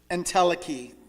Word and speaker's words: entelechy: I'm going to pronounce this entelechy.